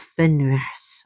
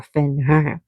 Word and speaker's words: Fenrir: They are the children of Fenris or Fenrir, depending how you want to pronounce it.